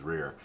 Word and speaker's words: RIR: So that was the Reptile Information Review, which of course the initials are RIR, and as you just heard me say, I generally pronounce it as Rear.